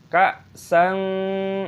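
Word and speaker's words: كَأْسًا: ka'san, ada hamza sukun, bacalah. Ka'san , fathah tanwin diikuti kaf dibaca ikhfa (dikaburkan).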